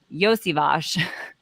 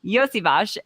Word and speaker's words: Iosivas: We're going to talk about Iosivas. That's how you pronounce his name for anybody who's wondering. All of the Bengals. That's how you pronounce his name. Iosivas, and I know Greg